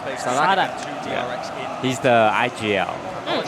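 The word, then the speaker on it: Sadhak: How do you pronounce this guy's name? Sadak. Sadak.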